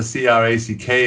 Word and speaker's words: craic: Is That's Good Crack Podcast. Our Facebook page is just That's Good Crack, and crack is spelled CRAIC for all you Americans